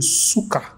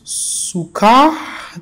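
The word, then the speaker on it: сука: emphasize the first syllable Suka then you are saying vomit if you emphasize the second the second Suka then you have vinegar very different crazy crazy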